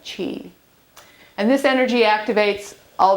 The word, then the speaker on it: qi: So the life force energy called qi, and we pronounce it qi.